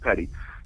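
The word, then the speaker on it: petit: example I was part of a a civilians Petty trial it's spelled p TI T it's pronounced Petty civilians Petty trial at AA Church in Harlem and they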